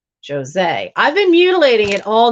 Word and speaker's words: Jose: Jose. Okay, so it's pronounced like there's a Z in it. Jose.